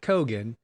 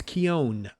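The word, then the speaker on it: Keoghan: for it okay uh you said kogan i said keo at one time it's kion k-e-e-o-w-n kion i know you're looking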